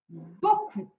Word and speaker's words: beaucoup: nouveau mot-outil qui est le mot beaucoup, où le O s'écrit avec E-A-U. Beaucoup. À la fin, il y a le P qui est muet.